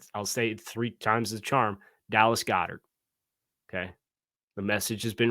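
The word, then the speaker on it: Goedert: I'll say it three times the charm Dallas Goddard okay the message has been received please don't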